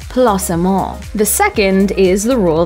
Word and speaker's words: placement: guests must follow first the word placement should always be pronounced the french way that's placemaul the second is the